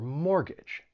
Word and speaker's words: mortgage: So number 1, you may not pronounce the T when it comes between two consonants. And I'm sure you hear this when I say words like exactly or mortgage or Christmas.